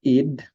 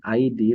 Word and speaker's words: id: We have id, superego, and ego. This id this is not ID, rather this is pronounced as id, is the aspect of personality found in every person that is directed towards pleasure.